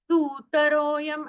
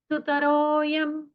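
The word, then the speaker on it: सुतरोऽयं: दुस्तः सुतरोयं यहां पर सुतरोयं ऐसा उच्चारण नहीं करना करना है सुतरो यम ऐसा ह्रस्व उच्चारण हमें करना है।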